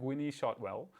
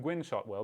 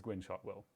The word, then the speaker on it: Gwynne Shotwell: way to say it I said when he shot well which I still like more than Gwynne Shotwell because I think it sounds totally cute but it's apparently it's Gwynne Shotwell there you go okay